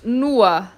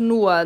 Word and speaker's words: nur: Atenção para a pronúncia de nur, é como se tivesse um azinho no final, né?